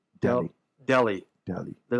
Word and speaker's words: Delhi: Delhi? You're close. Am I close? Your pronunciation is pretty effed up, but you are right. What is the pronunciation? Delhi.